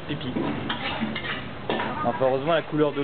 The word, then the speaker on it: Phi Phi: Ça s'écrit Fifi mais ça se prononce Pipi.